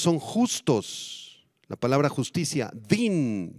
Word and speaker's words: din: justos la palabra justicia Din d i n con acento en la i Din se refiere a un